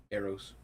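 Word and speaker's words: Arros: Eros is spelled with an A. Yeah. And two A-R-R-O-S. Kind of like arrows without the W.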